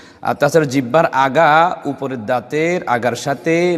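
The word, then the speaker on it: ض: একপাশ থেকেও করা জায়েজ প্রথমে আমরা মাখরাজে চলে যাই সাত নাম্বার মাখরাজ জিহ্বার ঘোড়ার কিনারা একপাশ বা উভয় পাশে উলিয়ার ঘোড়ার সাথে লাগাইয়া যদি বাংলায় বলেন উপরের মাটির দাঁতের ঘোড়ার সাথে লাগাইয়া উচ্চারিত হয় এই হরফটি উচ্চারণ করার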